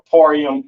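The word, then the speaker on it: אפרים: The Ya and Ma characters connect at the end of that word for that tribe, Ephraim or Aparayim in the Hebrew, all right?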